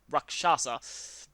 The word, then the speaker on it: Rakshasa: Yeah, Rakshasa. The SH is the second syllable, not the third.